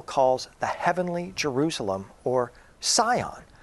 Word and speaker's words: Sion: the Heavenly Jerusalem or Sion sometimes pronounced seon a place on the